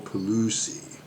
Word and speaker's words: Pigliucci: which the pronunciation has, there's a G in there, but the one pronunciation I saw kind of pointed out that Italian and G's, sometimes the G is there and sometimes the G is silent, so one of the